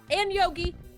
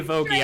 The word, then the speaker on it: Vogie: All right, so someone's got to guard that great, and Yogi, that weirdo kobold. Name's actually Vogie. I said it wrong all last episode.